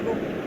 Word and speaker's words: rho: So here this constant is rho, spelling is RH, इसका pronunciation है rho, and it is known as specific resistance.